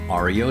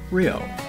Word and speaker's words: REO: from a defunct company made a special point of pronouncing it with each letter r e o I get a big